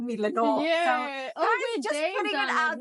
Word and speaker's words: Lenore: wanted to correct um you've always pronounced my name incorrectly I kept quiet about it many of the times but my name is Lenor and not Leno so um I always